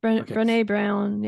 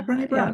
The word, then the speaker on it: Brené Brown: Is it Brené Brown or something? Brené Brown, Brené Brown. That's I was getting the name wrong.